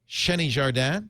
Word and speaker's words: Xeni Jardin: then from boing boing I could say that shenny jardan did I get your name right you got it perfo